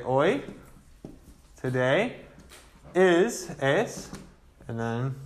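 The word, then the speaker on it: hoy: day is today well the word for today was oi h-o-y so let's write this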